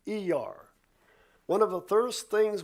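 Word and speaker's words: Iyar: I Y A R, which is to typically pronounced E R.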